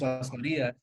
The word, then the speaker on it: Lasmarias: So the correct way is Lasmarias, but I roll with both, man.